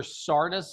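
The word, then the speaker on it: Carda: Sarda's schedule. It's pronounced Dr. Sarda, but it's spelled Carta. C A R D A.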